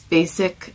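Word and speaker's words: Bazic: it there, Basic, and it's Basic spelled with a Z, B-A-Z-I-C, Basic Products, and it's really good.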